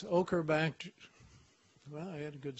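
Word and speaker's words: Ochrobactrum: Now here's one that I've finally learned how to pronounce. Don't correct me if I'm wrong. It's Ochobacter. Well, I had a good start. Ochobactrum anthropi.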